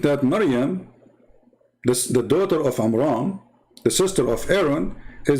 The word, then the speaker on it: Amram: But Imran, even Muhammad, he called the name wrong. It's Amram, not Amran, but idiot, as what you say, is the father of Moses.